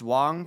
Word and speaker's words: Wang: I found out that most of the time the name is pronounced Wong but there are exceptions so even though it's not common I'm going to keep pronouncing it Wang for the memes Wang